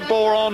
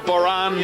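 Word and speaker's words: bodhrán: That's a boron or a boran, depending on how you pronounce it, which is primarily an Irish instrument again, but much adopted by English musicians.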